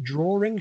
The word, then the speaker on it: drawing: Do you think that pronunciation drawing should be in a dictionary? Do you think it should include the pronunciation that has the R in it?